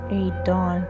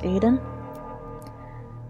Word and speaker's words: Aidon: If I would pronounce it Aidon, the aid part of the name fit the poem to me.